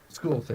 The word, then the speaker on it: Scortha: Scortha, yeah. Scortha reaches. Scortha. Scortha. With an S. Scortha. Silent S then.